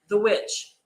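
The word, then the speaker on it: The VVitch: I did tell you the witch and it's spelled v-v-i-t-c-h the witch um also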